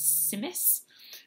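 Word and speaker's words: Tzimmes: And my family sometimes mixes roasted butternut squash with carrots and cranberries and walnuts to make a German dish called Simmes with a silent T.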